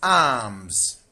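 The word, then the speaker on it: alms: In option A, this is arms. L is silent. Arms.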